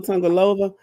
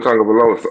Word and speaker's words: Tagovailoa: The question on the table now is about Tua Tungalova. Did I say his name right? Tua Um, Tagovailoa.